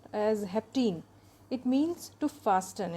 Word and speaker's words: hapten: start today's lecture so haptens which are usually pronounced as Hep teen it means too fast and it is a